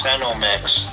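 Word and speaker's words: Senomyx: It's Sinomix. Sinomix. Food flavor. It's spelled with a Y, though.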